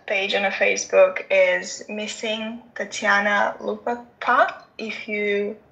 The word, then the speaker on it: Tatiana: Yeah, so my mom's page on Facebook is Missing Tatiana Lupaca. If you pronounce it in as how you spell it.